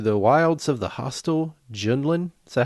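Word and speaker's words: Jundland: And the Bantha Raiders have vanished into the wilds of the hostile Junlin. Is that how you say it? Junlin.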